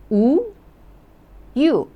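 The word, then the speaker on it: 우유: so I told you one consonant looking like a circle that one doesn't sound so you got to pronounce those vowels u u u meaning milk n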